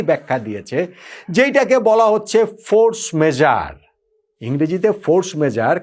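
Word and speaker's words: force majeure: যেইটাকে বলা হচ্ছে ফোর্স মেজার। ইংরেজিতে ফোর্স মেজার। কিন্তু আসলে এটা ফ্রেঞ্চ শব্দ তো ফ্রেঞ্চ উচ্চারণ করাটা বড্ড কঠিন। আমি দেখলাম সবচেয়ে কাছাকাছি বোধহয় ফোহ মেজা এই টাইপের কিছু একটা উচ্চারণ হবে।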